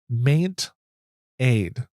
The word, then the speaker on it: Maint Aid: The next another app is called Maint Aid. So Maint like maintenance and aid.